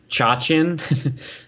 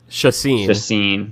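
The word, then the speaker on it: Chacín: Chachin? Chacin. There you go. Chacin.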